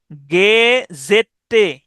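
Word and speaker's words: gazette: আপনি উচ্চারণ করবেন এভাবে, গেজেটে, গেজেটে, কারণ এখানে ডাবল টি আছে।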